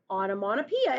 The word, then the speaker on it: onomatopoeia: You pronounce this word onomatopoeia. It's spelled crazy, and I had to look it up to make sure I spelled it correctly.